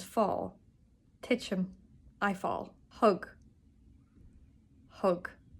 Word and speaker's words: thug: Hug, not thug.